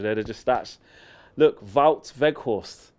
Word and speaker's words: Weghorst: Look, Wout Weghorst. That's how I said it right first time.